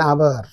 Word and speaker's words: hour: written words our so we don't pronounce this H in this word r we pronounce the word from o so our 60 Minutes make an hour okay and Forest there's